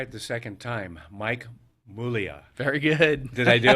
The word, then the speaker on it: Muglia: I mean, Muglia, it's spelt with a G. It's Italian.